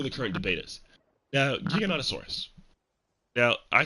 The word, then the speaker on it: Giganotosaurus: I say Giganotosaurus. That just feels right to me. No? That just feels right. Saying Giga. Not Giga, not Gigantosaurus. Giganotosaurus. I've always said Giganotosaurus.